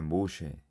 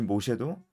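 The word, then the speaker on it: משה: 네, 히브리식 이름도 발음이 비슷해요. 히브리식 이름도 모쉐입니다. 모쉐. 모쉐입니다. 이 모쉐도 건지다, 끌어내다 라는 뜻이 있습니다.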